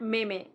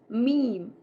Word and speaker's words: meme: It's not meme. It's meme.